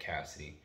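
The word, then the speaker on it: CASIDI: to talk to you guys about my project Cassidy it's spelled c-a-s-i-d-i it's an acronym I'm not going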